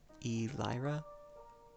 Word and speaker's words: Elira: It's Elira, I'm guessing is what you're saying there. Okay. I'm glad that both that is how it's pronounced, and also that there's very minimal delay.